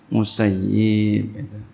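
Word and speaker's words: المسيب: Jadi jangan bacanya sayyab. Takutnya ini, ya. Waspada aja sama doanya, ya. Ya, karena beliau telah berkata, ya, ketika orang ahli Irak mengatakan sayyabuni, ya telah ya sayyabuni, mereka telah ya mengihmalkan aku. Semoga Allah mengihmalkan mereka. Jadi kita jangan sampai masuk ke dalam doanya nih. Jadi seyogianya bacanya musayyib.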